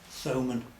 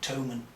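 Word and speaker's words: Thomann: actually was uh bought from thomman or toan some people pronounce it over here in Europe of course you can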